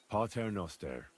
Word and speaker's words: Pater Noster: You're saying it wrong. Listen. It goes like this. Pater Noster.